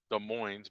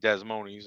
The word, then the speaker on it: Des Moines: to call desmondis Iowa that's actually pronounced Des Moines but I piss certain people off by saying desmondes and well that's fun